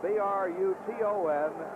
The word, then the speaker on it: Bruton: It is spelled B R U T O N and pronounced Bruton.